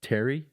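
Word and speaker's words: Thierry: It's like Terry, but it's spelled like Theiry.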